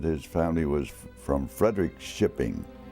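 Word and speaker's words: Fredrikskoping: his family was from Frederick shipping f-r-e-d-e-r-i-k-s-k-o-p-i-n-g Frederick shipping is the way they pronounced it my mother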